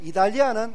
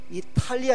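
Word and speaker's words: Italia: 이달리아는 영어 발음을 부드럽게 하는 거예요. 이탈리아 이러면 안 돼요. T를 아주 부드럽게.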